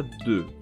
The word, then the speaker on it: deux: E como quando você fala un, dois, se fala deux. Então aqui é o som de D, mas o som de E, aquele E fechado que já vimos no vídeo sobre os E, no caso.